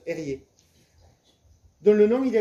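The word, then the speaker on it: Erge: Il s'appelle Erié, sauf que ça s'écrit E-R-G-E, ça se prononce Erié.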